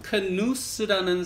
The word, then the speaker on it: Knuth: 이 하이 히트는 딘 크누스라는 사람이 발명했어요. 딘 크누스. 그래서 KNUTH라고 발음을 하는데, 그 사람은 또 USGA에서 되게 유명한 게, 지금 현재 그린 스피드를 측정하는 슬로프 시스템을 개발하신 박사님이세요.